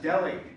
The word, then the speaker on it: Delhi: That's because you're not saying it right. You're not pronouncing the H. It's Delhi diamond. Oh, Polly, no. No, it's a silent H. It is pronounced Delhi.